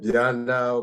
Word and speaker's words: Mbianda: in the introduction dr mianda so then bianda most of whom people have difficulty you can just uh have the m silent it will be easy to pronounce uh and i'm a